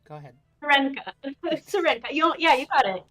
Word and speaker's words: Syrenka: project that just got successfully funded um yeah Shena or sha all right go ahead I'm saying it wrong go ahead Serena Serena you yeah you got it oh I did